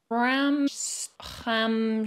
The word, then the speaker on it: Rammstein: It's an ST, but it's CHT.